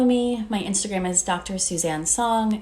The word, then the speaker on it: Suzanne: my instagram is dr suzanne song it's spelled like susan with a z you can also check